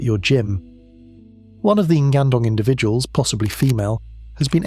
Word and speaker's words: Ngandong: The place is called Ngandong, pronounced Nengandong, a village today, a river bend then.